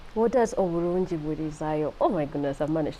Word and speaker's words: Oburungi Bwirizayo: It is a sentence, especially with the pronunciation. I want to be careful not to say it the Luganda way. Yeah. So, what does Oburungi Bwirizayo mean? Oburungi Bwirizayo means that goodness extends or perpetuates or expands.